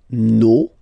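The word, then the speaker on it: nos: Okay, so remember, even if you've got this final s, you don't pronounce it, as it was the case already for this word, no, you don't pronounce the final s, vos, you don't pronounce it, leur.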